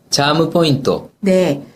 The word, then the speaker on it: チャームポイント: 영어로 뭐라고 하죠 선생님 차무 포인터네 차무 포인터 그래서 영어를 일본어 식으로 발음을 해 주시면 되는데요 뭐 이걸 일본어 풀어